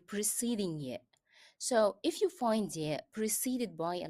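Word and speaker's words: في: This is another Arabic word ending in ya, but here I pronounce ya as e. The reason is the letter preceding ya is carrying kasra.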